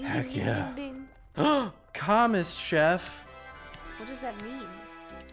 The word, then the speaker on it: commis: S is silent. It kind of reminds me of like commiserate, but like commis chef?